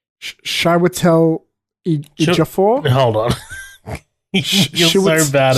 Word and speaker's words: Chiwetel Ejiofor: I remember this guy, I think his name's pronounced Chiwetel Ejiofor. Hold on. You're so bad at Chiwetel. I'm so bad at names. Chiwetel Ejiofor.